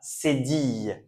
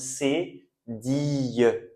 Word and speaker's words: cédille: On prononce cédille comme yeux. Ok? Cédille. Et là, vous voyez, vous avez un E accent aigu. Donc normalement, vous êtes des pros maintenant. Vous savez qu'on dit cédille.